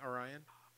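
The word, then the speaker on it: Aryan: my name Orion is my name. Spell it. A-R-Y-A-N. It's like Ryan with an A at the beginning. Orion.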